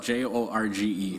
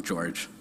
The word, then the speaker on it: Jorge: right at the beginning so my name is spelled j-o-r-g-e so some people say Jorge some George I go by both so nice to meet